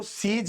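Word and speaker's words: seize: सारे आपके ड्रग्स वगैरह जो इललीगल होते हैं उनको सीज करती है। स्पेलिंग देखिए बच्चों। एस ई आई जेड ई सीज। यहां सी ई एस ई सीज। दोनों सेम प्रोनन्सिएशन।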